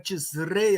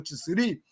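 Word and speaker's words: Tishrei: Se escreve Tisrei, a gente lê Tisre ou Tisri, né?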